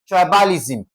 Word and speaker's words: tribalism: Tribalism and T R I is being what now? Stressed. That's tri ba li sm.